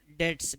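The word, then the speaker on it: debts: करते हैं उसके लिए बैट डेट्स कहते हैं डेट्स बी साइलेंट ही रखना है इसमें ठीक है बैट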